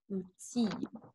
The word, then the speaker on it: outil: And then you have outil, which sounds like outil. You have that example also on page 4, word 7 on the second list. So outil, okay, you do not pronounce that one, okay?